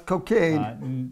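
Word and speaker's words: Cocagne: town called cocaine I'm gonna tell you I'm pronouncing that correctly but nope that's cocaine near cocaine in New Brunswick and that's in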